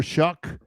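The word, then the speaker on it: Shough: John, how excited are you about Tyler Shuck? And that's how you do pronounce his name. Rhymes with Yeah. John, how excited are you about Tyler Shuck this season?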